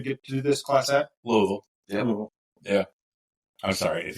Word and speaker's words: Louisville: It's Louisville. But it's LOL. If you don't, it's Lewisville. Yeah. So, I have a I have a good friend sometimes. I call LOL. Lolville. It's one syllable if you live there.